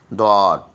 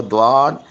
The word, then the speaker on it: ضاد: ضاد۔ حرف حفیہ جو ہے وہ ضاد، یہ بہت امپورٹنٹ ہے اس کا تلفظ۔ زبان کی کروٹ اور اوپر کی داڑھوں کی جڑ سے، یا تو لیفٹ طرف کی داڑھوں سے ادا کیجئے یا پھر رائٹ طرف